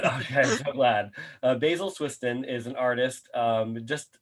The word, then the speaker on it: Swiston: a little bit about him first um basil swisston and i i had trouble pronouncing your last name earlier so i'm i'm